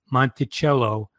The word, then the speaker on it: Monticello: Mountain because it wasil Small Mountain and even pronounced the word The Italian Way Monticello and notello as we do in America Today